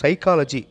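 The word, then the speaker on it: psychology: இந்த வேர்டில் first letter B, அது சைலண்ட் லெட்டர், ஸோ சைக்காலஜி அப்படி தான் சொல்லணும்.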